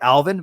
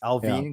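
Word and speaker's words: Allvin: today is patrick alvin it is spelt like alvin but it's alvin because it's like sadine he's from sweden he's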